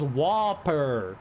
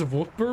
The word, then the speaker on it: Whopper: Whopper Big Mac Whopper I thought it was whoer not Whooper it's wer it's Whooper bro is this going to